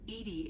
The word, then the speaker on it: EDI: Edy is the phonetic pronunciation of EDI.